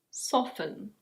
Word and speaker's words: soften: This one in British English is: soften.